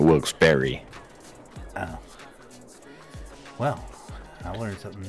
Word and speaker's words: Wilkes-Barre: the cops were Pro will pronounce it bar and bear and Barry and then Dan always says Barry yeah so it's always Barry and this is the local news and they're calling it Wilkes Berry oh well I learned